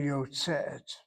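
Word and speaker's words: יוצאת: You would think this would be yotzeit, but the lamed aleph causes the two segos to transform to a tzere, yotzeit, not yotzeit.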